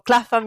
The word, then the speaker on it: Clapham: Clapham, that she used to call Clapham with an F instead of a PH, pronounced as a phone. So Clapham instead of Clapham.